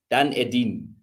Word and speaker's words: Dunedin: Okay, so it's pronounced Dunedin, Dunedin.